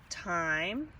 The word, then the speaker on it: thyme: It's called thyme. It's spelled different than the thyme that we use to see what time it is. This one is actually spelled T-H-Y-M-E, whereas thyme on a clock is spelled T-I-M-E.